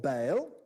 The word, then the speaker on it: Baal: disc its roundness coming as a symbol of bale see bale he just said it right